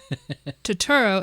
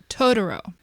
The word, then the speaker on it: Totoro: name of this film it is not tooro it's tooro tooro so I'm going to